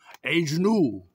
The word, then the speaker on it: Agnew: It's Todd Agnew. Agnew. You knew Agnew.